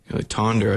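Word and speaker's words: Tønder: Tonder, I guess, is how we would pronounce it. Okay. It's pronounced tuna over there.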